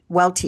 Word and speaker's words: Welty: My guest today is Jim Welty, who is the president. Jim Welty. Is it Welt? Do you pronounce the T? Welty. Yeah. Okay.